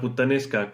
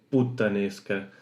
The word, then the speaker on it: puttanesca: Porque claro, un español lo oye, igual no va a distinguir si hay una doble consonante o no, y lo va a poner con una T sola, o sea, puttanesca, que según cómo se pronuncie puede que suene también así, pero no. Esto es con doble T.